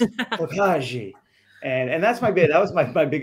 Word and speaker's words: Tokaji: I would be Oh, it's Tokaji.